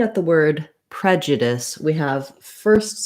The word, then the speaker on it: prejudice: So I'll write it here a little smaller with the UH for that vowel schwa, the sound in that syllable, prejudice.